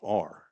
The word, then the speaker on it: Clater: Clater spelled Clatur. Right from Chase's mouth, that's how you pronounce it.